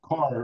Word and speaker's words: Kaur: Kaur, Kaur. Carr, right?